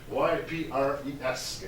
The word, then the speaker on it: Ypres: That's pronounced Ypres, Y-P-R-E-S, Ypres.